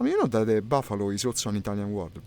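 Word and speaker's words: bufalo: I mean, you know that the Buffalo is also an Italian word, by the way. It's written just the same. No, actually in Italian it has only one F, and you pronounce it buffalo.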